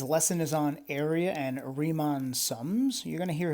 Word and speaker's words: Riemann: do believe that well he is german and i do believe in german this is pronounced riemann so i'm that's what